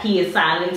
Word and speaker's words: Pswitch: That P is silent.